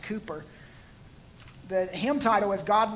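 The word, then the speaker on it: Cowper: it's spelled it looks like calper it's actually pronounced Cooper the hymn title was God moves in a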